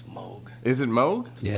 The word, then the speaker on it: Moog: Just this company Moog has just been sending me all kinds of funky shit. I think it's Moog. It's Moog.